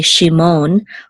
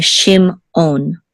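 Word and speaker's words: שִׁמְעוֹן: So we're not going to say Shimon, we're going to say Shimon, okay? And then the accent, this is the accent, it's a katon, and this is Shimon. So this is Shimon, and the accent is on the last syllable.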